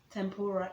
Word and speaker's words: tempura: then there is okay for number four is tampura tempura is spelt t-e-m-p-u-r-a let me know if you've tried